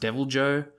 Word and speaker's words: Deviljho: this monster called uh it's felt really weirdly I think he's pronounced deviljho he's ever made cry